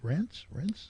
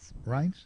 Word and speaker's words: Reince: And Trump is also, and I never know how to, I don't know how to pronounce Priebus's name. Reince? Right. Reince, is that it?